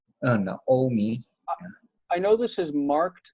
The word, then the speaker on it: Naomi: It's marked with meteg, which would normally say that we would say na. It's an open syllable, na-omi. But everyone will say no-omi.